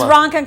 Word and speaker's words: Ronkonkoma: pronounced it right. Everybody says Ronkonkoma. Ronkonkoma. You said it right. Ronkonkoma.